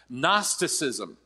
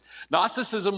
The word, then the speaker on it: Gnosticism: and that heresy was Gnosticism with a silent G in the front of it Gnosticism Gnosticism was a Greek philosophy